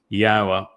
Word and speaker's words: Yahweh: It is Yahweh. There is no B sound in the original Hebrew language.